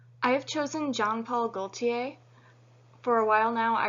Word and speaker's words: Jean-Paul Gaultier: He pronounces it Jean-Paul Gaultier, where most French people would not pronounce the L, they would have it Gaultier, but because he refers to himself with the L, that's what I will be doing as well.